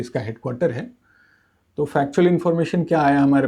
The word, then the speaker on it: junta: 2021 में वहाँ की मिलिट्री हुंता, वैसे JUNTA बोलते हैं इनको, लेकिन प्रोनाउंस किया जाता है हुंता।